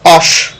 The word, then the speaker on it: OSH: থাকতে পারে অনেক সময়, বাট এটাকে ইন শর্ট এবার বলে অশ। কেমন আমাকে বলবেন এটা কি বলে? অশ, হ্যাঁ অশ, মানে উচ্চারণটা হলো অশ।